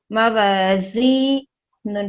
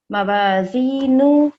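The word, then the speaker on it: موازينه: मवाज़ी, नून पेश नू, मवाज़ीनू, हा उल्टा पेश हू, मवाज़ीनुहु। स्टॉप करेंगे, मवाज़ीनु, ठीक है। आखिर में जो हा है वो साइलेंट हो जाएगा, इसको हमें ऐसे पढ़ना है, फ़अम्मा मन फ़क़ुलत मवाज़ीनु।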